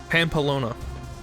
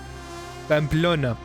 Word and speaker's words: Pamplona: The question is if we can find Pamplona. I just pronounced that in the worst way, the most American way possible. Pamplona.